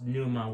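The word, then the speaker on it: Pneuma: pronounced Planuma, but no, it's Numa with the P silent.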